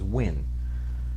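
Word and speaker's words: Nguyen: uh win actually i found out n-g-u-y-e-n is win god lost so what the name win dustin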